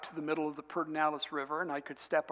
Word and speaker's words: Pedernales: And they call it the Pedernales, and it's spelled Pedernales, I think.